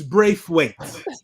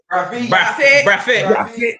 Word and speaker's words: Braithwaite: In other parts of the world, it's Braithwaite. Yes. But we're not from other parts of the world. You're from a spectacular island in the Caribbean where we pronounce it Braffet, boy. Braffet. With an F.